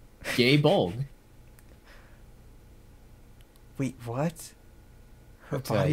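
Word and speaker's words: Gáe Bolg: Because of my pronunciation of Guy Bola. Or, as they pronounce it in Japanese, Gay Bolg.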